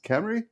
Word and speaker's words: Cymru: how do you now it's spelled c ym Ru the way you said it's Camry cry oh that's not